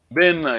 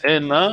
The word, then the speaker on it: bena: Bena, yes. Some people say Ena. Bena. Bena, yes. Mm. That David, are you okay? Yes? Also, some tribes, Sorry, Nango tell you. so some tribes like omit the B, but Yes.